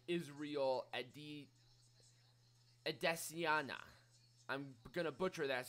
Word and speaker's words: Adesanya: Adesanya. That's how you pronounce Israel's last name.